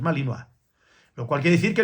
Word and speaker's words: Malinois: Hay gente que no ve otra cosa que malinoa, como dicen por ahí, malinoish, ¿vale? Mal pronunciado porque es malinoa, lo cual quiere decir